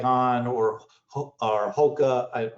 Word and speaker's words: Hoka: like han or or hoka i always pronounce it wrong it's hoka but there are other